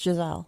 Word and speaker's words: Giselle: I'm not sure how to pronounce her maiden name. Apparently, but it is Giselle.